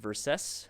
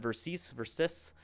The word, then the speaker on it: Versys: Also, there's a Kawasaki 300 Versys. I think that's how you say it, Versys.